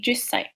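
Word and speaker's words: 十歳: And then counting age, you put sai at the end, but also make sure that you see the small two when you pronounce, like isai, and 10 would be jusai.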